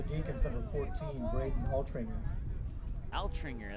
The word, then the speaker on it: Altringer: Altringer, that's how you say it.